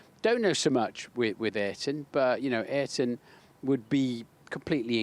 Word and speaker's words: Ayrton Senna: There was the classic story when Murray, having called him Ayrton Senna, for years, 1 year decided to call him, and here is Ayrton Senna, having been told by a Brazilian colleague, I think, that in Brazil they pronounce it Ayrton.